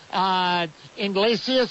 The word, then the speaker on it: Iglesias: Okay, and Georgia's Mohamed Mascoy, is that how you pronounce it? Mascoy, yeah, right? Yeah. And over at Oklahoma, Iglesias, is that it?